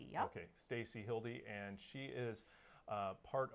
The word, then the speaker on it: Hilde: and uh so I have Stacy is it pronounced Hilda okay Stacy Hildy and she is uh part of we recover